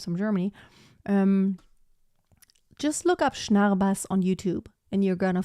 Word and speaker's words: Schnarrbass: Is there an example I can look up of Schnarrbass? Okay, let me actually type it out how to spell it.